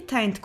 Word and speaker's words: Taynt: Dan to be Penelope Taynt. Although not spelled the same, it is pronounced like 'taint', a word with connotations to the genital area.